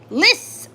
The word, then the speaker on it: Lis: My name is said like Lis Liss. Oh, that's cool. Like the snake.